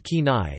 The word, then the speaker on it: Kenai: The name Kenai, pronounced Kenai, is derived from the word Kenaiets, or Kenaiets